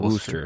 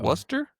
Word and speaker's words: Worcester: Not Worster. Not Woo. Wor. Worcester. Woo. Was like you're a Worester was wor almost like almost like it's with a almost like it's with a U is that there's no woo sound.